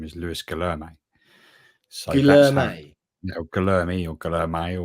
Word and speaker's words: Guillermo: Well, I was very keen to know exactly how you pronounce it, and in his welcome video, he pronounced his own name as Lewis Guillermo.